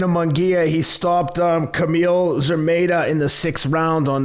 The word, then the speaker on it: Szeremeta: Yeah, give me the pronunciation of his opponent. Szeremeta.